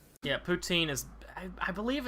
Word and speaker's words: poutine: You guys told me about a product called Poutines.